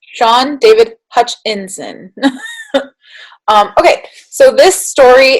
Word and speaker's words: Hutchinson: by sean david hutchinson let me make sure i'm saying it right hutchinson i was like so i never remember like where the vowels fall so it's sean david hutchinson um okay so this